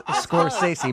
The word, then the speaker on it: Scorsese: Scorsese? It's Scorsese.